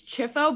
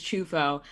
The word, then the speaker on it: Ciuffo: spelled ciu ffo so the correct pronunciation and in italy they would say chufo i feel like there's